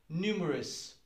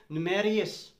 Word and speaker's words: numerous: very typical word and this is how you pronounce the word numerous very typical among the language learners people have the tendency to say marius numerius is not the pronunciation of the word numerous